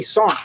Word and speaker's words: sergeant: Like in the army, we don't say sergeant, we say Sarn. There's no G in that word that gets said ever. The G is silent.